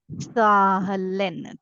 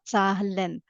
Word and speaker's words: Zahlen: Z is set sound, right? I read it as Sa, ZAHLEN, ZAHLEN.